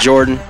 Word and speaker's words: JRDN: mouth what's going on is jrdm pronounced jordan square town representative halifax